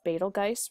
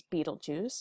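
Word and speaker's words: Betelgeuse: that are named within this constellation we have balge right here some people often pronounce this as Beetle Juice but it's actually balge and this is a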